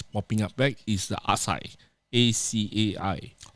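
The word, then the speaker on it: açaí: dia punya waitress dahlah mat salh kan asal why you love actually it's not acai it's asai asai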